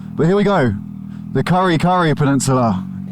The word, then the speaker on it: Karikari: But here we go, the Karikari Peninsula. Sounds like curry when I say it. Karikari if I say it the English pronunciation.